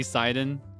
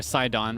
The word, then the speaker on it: Sidon: just don't want you to see Siden or Sidon rather is how they pronounce it.